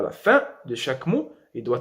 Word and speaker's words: fin: Par exemple, le mot fin, N ici, il n'est pas prononcé.